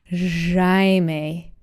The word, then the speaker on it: Jaime: You're way too multilingual to pronounce that J that hard. Jaime. No. It's Jaime. You got to get the Brazilian j.